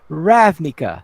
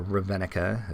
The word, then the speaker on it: Ravnica: Then let's have a look at WotC announces a new hardcover book, The Guildmaster's Guide to Ravnica. Or Ravenica, as I say, but however you want to pronounce it, yes.